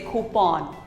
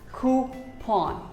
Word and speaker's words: coupon: us call it coupon or some may even say coupon but actually it is pronounced as coupon who pawn coupon here's a very common